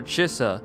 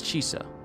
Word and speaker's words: Chisa: I've been calling her Chisa, but it's Chisa.